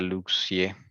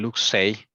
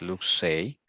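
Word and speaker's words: Luxeuil: Se pronuncia Luxier. Oh, perdón, Luxey. Esto es francés. Luxey.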